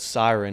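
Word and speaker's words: CIREN: Um he's got one called siren. It's spelled c i r e n.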